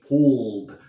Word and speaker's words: pulled: Y por eso digo pulled. No digo pulled. ¿Por qué? Porque la L es una consonante suave. Y como es suave, no pronunciamos la E. Pulled.